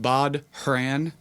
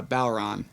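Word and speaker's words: bodhrán: irish word so it looks like it's it's pronounced bod haran b-o-d-h-r-a-n yeah um without getting into the linguistics of it all but yeah bauron is how it's pronounced but yeah bob haran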